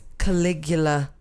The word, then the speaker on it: Caligula: germanicus yes okay you might know him as caligula i don't know if that's how you say